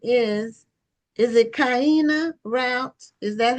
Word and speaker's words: Kyina: How do you pronounce Kiana? Kiana.